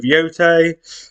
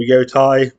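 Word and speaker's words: Yōtei: Some games I'm most anticipated is, obviously, there's Ghost of Yotei, or Yotai, depending on how you pronounce it, by Sucker Punch.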